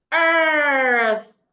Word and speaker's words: earth: Because of the letter R there, the E and A will make a longer sound. Earth. I had explained how to pronounce the TH sound earlier. Put your tongue outside. We have two TH sounds, but the one we have in this word, put your tongue outside and blow air. Earth.